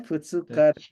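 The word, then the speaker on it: ふつか: Itu cara bacanya beda. Suitachi. Ya. Fuska. Tanggal 1 itu Tsuitachi, tanggal 2 Futsuka, tanggal 3 Mika.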